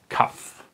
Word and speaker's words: Kaf: Kaf. This is how it looks like, and it's pronounced like K, okay? Like a C. I can do it. Okay, the can, the K.